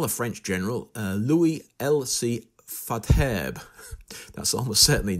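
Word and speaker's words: Faidherbe: Fadherbe. That's almost certainly not how you pronounce it. Fadherbe sounds okay to me.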